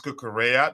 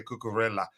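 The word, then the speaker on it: Cucurella: taught how to pronounce kukura because I used to say curella so now this is the secret l l is pronounced Double L is pronounced as y in Spanish wow so it's pronounced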